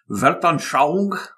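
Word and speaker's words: Weltanschauung: saw odinism as a this is a german word and i've gotten a pronunciation here verton xiang yes or world view right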